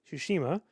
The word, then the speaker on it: Tsushima: Anyway, Ghost of Tsushima.